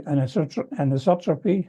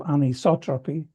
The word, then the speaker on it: anisotropy: Um the anotropy I've been studying the pronunciation of this. It's called anisotropy. Isotropic means and I discussed this in the last week.